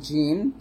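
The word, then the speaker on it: ج: জিমের মাখরাজ হলো জিহ্বার মধ্যখান তার বরাবর উপরের তালুর সঙ্গে লাগবে। তার মানে জিম যখন উচ্চারণ করবেন দাঁতের সাথে কোনো সংযুক্ত নেই, দাঁতে লাগবে না, জিম এরকম।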